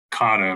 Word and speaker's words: CADA: So what is the Colorado Anti-Discrimination Act, pronounced CADA by its initials?